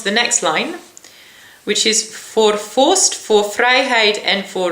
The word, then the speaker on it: voor: next line, which is voor vorst, voor vrijheid en voor recht, which is for the royal family, for freedom and for the law. This is quite nice because for is the same as for.